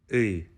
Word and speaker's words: И: In Ukrainian, this letter is pronounced Y.